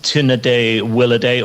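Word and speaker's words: Tu Nedhé-Wiilideh: With two exceptions, the pronunciation is Tunaday Willaday, or at least that's the best that I can do in my accent for the MLA's electoral district, and it's the Yellowknife Racket Club, not Racquetball Club.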